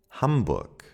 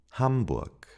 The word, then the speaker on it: Hamburg: That if it appears at the end of a word, it is pronounced as a K. Ka. Hamburg. Hamburg.